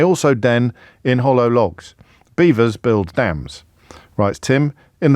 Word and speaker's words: Belvoir: exit otter may also Den in Hollow logs beavers build dams writes Tim in the veil of beaver which is pron which is spelled I often tell you about this stuff